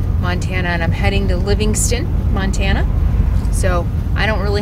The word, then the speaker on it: Livingston: good camping welcome to livingstone montana yes i pronounced it wrong it's livingston not living stone it's so exciting to